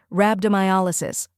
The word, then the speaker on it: rhabdomyolysis: a la and sis when you say it all together it's rabdo my Alo sis now it's your turn